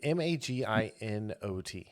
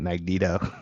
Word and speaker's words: Maginot: Is that Maginot? Is that how you say it about the ship? Oh, Magento, or what was it? It was Maginot. I almost said Magneto.